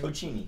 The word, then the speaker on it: Tocchini: Tocchini.